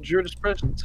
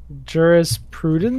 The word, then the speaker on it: jurisprudence: There was a chap with a jurispresence fetish. I'm not sure if I'm pronouncing that correctly because I've only seen that word written. Jurisprudence? Prudence. Jurisprudence fetish, rather. Sorry, Right, yes.